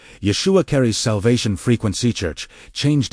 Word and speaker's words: Yeshua: The name itself pronounced Yeshua.